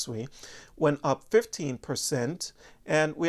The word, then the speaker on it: Sui: Another popular one, Sui or Sui, however you want to pronounce it, even though it's pronounced Sui, went up 15%.